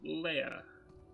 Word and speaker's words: Leah: I know I keep pronouncing it Lee, that's probably wrong. So I should probably go with how they're pronouncing it. Leia.